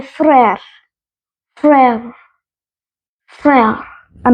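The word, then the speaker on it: frère: next word पे brother जिसको कहते हैं फ्रेयर फ्रेर फेर अब मैं आपको बताती हूं इसकी स्पेलिंग एफ आर ई आ ई अब जो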